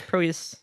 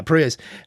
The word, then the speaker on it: Proyas: I think that's how you pronounce that. I think it's Proyas. Proyas? Yeah, Proyas.